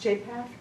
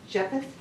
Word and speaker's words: Japheth: me again and again, would it be pronounced Japheth? I'm sure I'm not pronouncing it right. Japheth? Japheth. Japheth. The Lord said that name again and again, but the Lord's pronunciation was right, mine's off. Japheth, again and again.